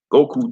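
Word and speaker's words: 五: That's how you say the number 5 in Japan, go.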